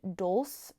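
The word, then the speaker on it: dulse: great here sea veggies so like seaweed and dou that's how you say it D LS e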